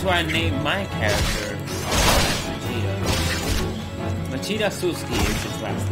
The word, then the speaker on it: Machida: Machida, and it's like, it rhymes with Vegeta.